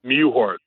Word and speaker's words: Mewhort: Mewhort.